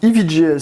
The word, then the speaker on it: EVGA: Aujourd'hui, nouvelle vidéo de présentation qui porte sur un boîtier EVGA ou EVGA si on prononce de la bonne façon.